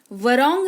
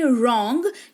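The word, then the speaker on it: wrong: तो रिस्ट यानी कि कलाई वरोंग नहीं रॉन्ग यानी कि गलत।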